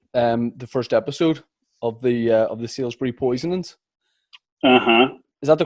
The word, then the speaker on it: Salisbury: Declan, I just finished watching the first episode of the Salisbury Poisonings. Is that the correct title of the show? Yeah, except they pronounce it there Salisbury.